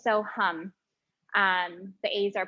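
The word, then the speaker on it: Soham: be using a mantra satam no so p s o h a m and when you're talking about Sanskrit there's um it's not pronounced ham so ham so ham it's so hum um the a are pronounced like use so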